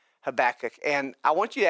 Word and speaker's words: Habakkuk: book of Habakkuk and yes I did say that right Habakkuk some of you might say well I don't know it could be pronounced differently and so I did actually look up some other pronunciations for Habakkuk 1 you can actually say this way have a cook like you have a cook in your house and if you're sitting